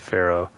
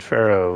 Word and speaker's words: Faro: leader the cleanest was joe faro spelled f-e-r-r-o and the bad guy in horizon zero dawn was ted pharaoh it's f-a-r-o but they pronounced it the same so i'm just thinking